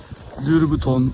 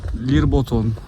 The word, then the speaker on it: Lyrboton: Lirbuton, Lirboton artık okunuşu farklı dillere göre değişiyor.